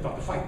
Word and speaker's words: Veit: Veit, his right name is Dr. Veit, by the way. That's the right way to pronounce his name.